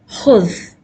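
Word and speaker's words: خُذ: Khuz has a Dhamma over it. Kha has a Dhamma over it. This Dhamma here. So we can pronounce, so there is no need to put a Hamzatul Wasal here. That's why this is khuz.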